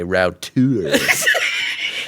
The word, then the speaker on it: router: Rockler is so fancy that they pronounce router the French way, routeur.